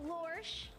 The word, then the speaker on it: Lorsch: Kira Reed Lorsch, which rhymes with Porsche.